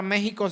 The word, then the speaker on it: México: j prójimo verdad como la palabra México se escribe con x y se pronuncia con j tu prójimo también es